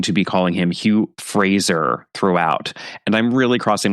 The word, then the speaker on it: Fraser: I learned recently that the correct pronunciation of his last name is Fraser, not Frasier, which is how I had always been pronouncing it.